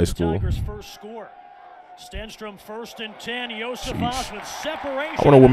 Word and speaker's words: Iosivas: And Iosivas. That's how you pronounce it.